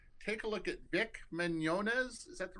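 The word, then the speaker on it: Mignogna: lose your mind take a look at Vic Manz is that the right way to pronounce it that's right yeah Vic Manz Star Trek Continues and you watch those you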